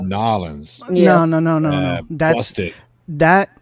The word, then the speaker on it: New Orleans: If you were from New Orleans as a Cajun, you would have said Nolans.